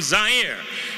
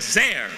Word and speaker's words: Zaire: Hello everyone, Howard Cosell coming to you live from Zaire. Some would pronounce it Zaire. They're wrong.